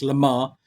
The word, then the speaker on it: Lamar: So, it's spelled La Mer Mer there, but his name is Lame Mer, but it's Lamar.